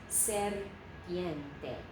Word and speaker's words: serpiente: I know it's a single, but when you have an R in front of a consonant of another syllable, we roll that if we can. So serpiente, three syllables.